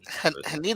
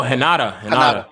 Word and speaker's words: Hinata: Like, I mean, Haneda is my girl. Who? I'm pronouncing her Haneda. Oh, Hinata. Yeah, she was dope.